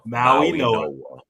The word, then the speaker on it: Mauigoa: Mauigoa.